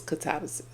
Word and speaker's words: Katabasis: It's not illegal to mispronounce a word but the correct pronunciation is katabis.